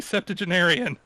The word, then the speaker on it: septuagenarian: Sprightly septuagenarian. Okay, that's how that word's pronounced.